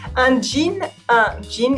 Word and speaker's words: jean: It sounds the same as un jean, a glass of gin, but it's totally different from un Jean, a guy with a French male name, Jean.